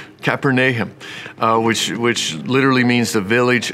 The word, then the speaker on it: Capernaum: He pronounces it Capernaum, Capernaum, which literally means the village of Nahum, the prophet.